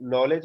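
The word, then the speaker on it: knowledge: ठीक है, अब जैसे नॉलेज है ना, नॉलेज के से स्टार्ट होता है और इसके बाद एन आता है। ठीक है, तो इसमें पहले वाला जो है ना वो साइलेंट हो जाता है, इसमें जी और टी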